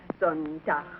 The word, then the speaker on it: Sonntag: Sonntag, Montag, Dienstag, Mittwoch. That is good, but pronounce the words broader, so Sonntag, Montag, Dienstag, yes?